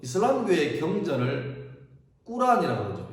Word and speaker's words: 꾸란: 그때가 610년이었고 우리 그 이슬람교의 경전을 꾸란이라고 그러죠. 옛날에는 코란 그랬는데 그거는 영어식 발음이고 지금은 이제 아랍어 그대로 가져오는 거죠. 그래서 꾸란이라고 하는데 이 꾸란이라는 말 자체가 읽으라라는 말입니다.